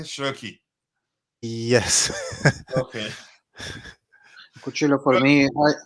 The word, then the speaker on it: Cherki: And by the way, Martin, did I pronounce it correctly? Cherki.